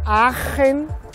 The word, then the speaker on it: Aachen: agen aquí en Alemania agen es hasta difícil de pronunciar se escribe aachen y se pronuncia como si tuviéramos asco aen y hasta allí vamos